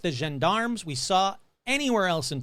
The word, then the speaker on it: gendarmes: Gendarmes. Gendarmes. There we go. French police. Two gendarmes, French police, enter the room. But Jeff said, they were nothing like the gendarmes we saw anywhere else in France.